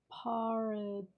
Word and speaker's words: pareidolia: It is pronounced pareidolia.